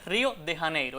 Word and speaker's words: Río de Janeiro: pronunciado, Río de Janeegro, porque en español esa J se pronuncia como h, o sea, no como y. Esa es la forma adecuada. Así que debemos decir Río de Janeiro.